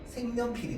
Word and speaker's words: 색연필: 기억이 이음으로 변했잖아. 맞죠? 기억이 이음으로 변했어요. 없던 자리에 니은이 생겼어요. 첨가. 기억이 이음으로 바뀌었어요. 비음화.